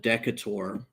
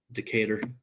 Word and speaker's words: Decatur: You know, when I first heard about that city, I called it Decator. And uh my friends laughed at me, but I I don't know how to pronounce that. Decatur.